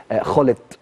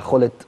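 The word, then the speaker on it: Gullit: وليس جاكبو او جاكبو لان الجيم في الهولنديه بتنطق خاء زي مثلا المدافع الشهير جدا خلت لما نيجي نتكلم على خلت دايما بيبقى الجيم في الهولنديه خ دي حاجه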